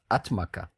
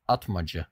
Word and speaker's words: Atmaca: why are you saying atmaja and not atmaka well that's how it's pronounced in Turkish and if you are